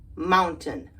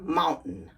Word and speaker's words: mountain: first way without the stop tea curtain Fountain Mountain but there when most people pronounce it with the stop te the stop